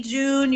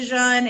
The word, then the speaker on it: Jun: you can say june you can say jean it's just like kiefer kaffir kefir uh that's just how we we call it um so don't feel like you're saying it wrong if you're doing it differently that's perfectly fine but if you need